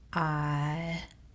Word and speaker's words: autumn: It works with words such as autumn, autumn. The N is silent.